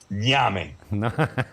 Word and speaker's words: ñame: The N with the accent mark on top, AME, like name, but with the gives you an accent mark.